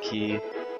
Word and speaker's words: Quay: Someone said I said it wrong, and Karasu says that's how you say it, so I'm just going to say Key.